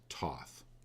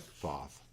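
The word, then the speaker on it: Thoth: card tonight it's pronounced it's actually pronounced Toth even though it looks like foth and some people pronounce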